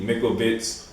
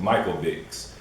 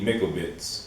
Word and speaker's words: Mikovits: the lady called, or her name is Judy Mikovits, or some people pronounce it Mikovits, but her name is Judy Mikovits, you know, so this is the one I